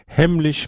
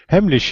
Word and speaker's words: Heimlich: Heimlich maneuver. All right. Well, your pronunciation is better than mine. Well, now I'm embarrassed. I've always called it Heimlich, like a hard CH.